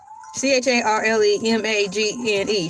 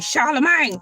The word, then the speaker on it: Charlemagne: C H A R L E M A G N E Charlemagne.